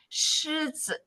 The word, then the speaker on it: 狮子: So again, 狮子, that is, that's the first tone. 包子, that's the fourth tone.